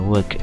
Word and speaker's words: work: w-nya kecil ya ya work Bacanya jangan W ya tapi work pakai E Work I work e hours